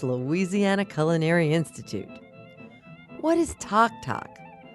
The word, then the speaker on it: tac-tac: What is talk? Talk, which is spelled TAC-TAC, is Cajun for popcorn. That's because of the tock sound popcorn makes when it pops.